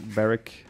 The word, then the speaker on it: Berwick: defeat the berwick eric barrick garrison all good yeah i know that it's kind of pronounced barrack but i am too deep